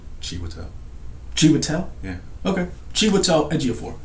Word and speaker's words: Chiwetel: that, but yeah, that's Cheetah Ejiofor and Mark Wahlberg's in the movie. You were close. What? I think you said like Cheetah. How do you pronounce it? I would say Chiwetel.